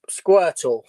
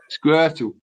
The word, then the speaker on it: Squirtle: Squirtle. Squirtle. Okay. It rhymes with turtle.